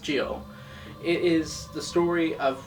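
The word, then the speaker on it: Gyo: juni's more renowned stories G or pronounced Gio it is the story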